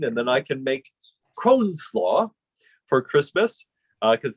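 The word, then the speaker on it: crosnes: nice pickle leaflet yes c-r-o-s-n-e-s like cross-ness but i'm told the pronunciation is crohn's a lot of people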